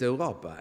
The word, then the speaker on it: Europa: Everybody understands Europa. We pronounce Europa. Someone else will pronounce Europa, but it's Europa.